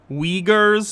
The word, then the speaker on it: Uyghurs: then the chinese government cut off access entirely uyghurs is how it's pronounced sorry um you her is in the